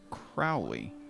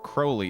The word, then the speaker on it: Crowley: that's right Aleister Crowley it's not pronounced Aleister Crowley there's a little rhyme about it Aleister Crowley is wholly spooky spooky